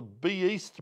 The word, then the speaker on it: B East: and viewers, at the B East Bar. Yes, that's how it's pronounced, B East in Brunswick East.